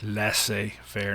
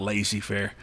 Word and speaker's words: laissez-faire: And by the way, that's how it's pronounced en français, laissez-faire, not laissez-faire, as I've heard some teachers pronounce it when I was a kid.